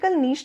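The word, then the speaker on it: niche: है ठीक ठीक है इसको प्रोनाउंस जो है वो इसका नीश है हिंदी में इसको कहते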